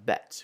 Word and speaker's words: bête: And then we have bête, where it makes the same sound as in mère, bête, whereas the parler makes